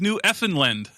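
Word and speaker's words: Newfoundland: The correct way to say the name of the island is New Effin."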